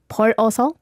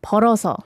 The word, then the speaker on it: 벌어서: Because I've heard that the 벌어서 sound a bit like 벌어서. Ah, okay. Yeah, but it should be like 벌어서. Like you transfer the last ending sound to the next syllable.